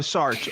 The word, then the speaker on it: Sartre: Okay, of Sartre actually is how you say it in English.